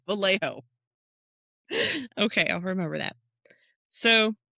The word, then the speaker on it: Vallejo: Listen, I remember that the double L makes a Y sound. Okay, but the the J O is a hoe. Just remember it's the hoe of the valley. Vallejo.